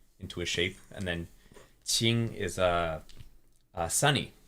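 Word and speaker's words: Qing: like you know um it's not like that was cheap like a like it's a it's a little bit different yeah it's like through the teeth yeah Ching super okay so that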